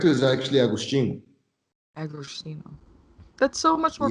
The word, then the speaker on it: Agostinho: I anglicize it, you know. I give people the whitewashed version because it's easier to just say Agostino.